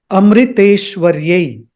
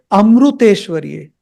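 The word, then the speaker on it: अमृतेश्वर्यै: The actual pronunciation of that word is Amriteshwaryai. Amriteshwaryai. It is not, many people say Amruteshwaryai. Amruteshwaryai. It's not Amruteshwaryai. It is Amriteshwaryai.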